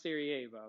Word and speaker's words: Sarajevo: of the city is up here it's called sarajevo that's how you spell it but it's pronounced sarajevo it looks like sarah and then j evo